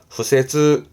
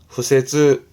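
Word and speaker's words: 敷設: 발음은 후세즈. 후세즈.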